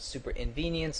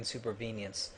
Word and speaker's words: supervenience: as usual first off BP pronounces supervenience wrong he calls it super inv venience and let me explain supervenience it's the idea that